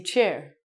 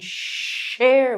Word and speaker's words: share: So you have to be careful and you don't want to say chair. Can you chair with me? I don't think I know how to chair with someone. I can share with you, but I'm sorry, I do not know how to chair with you.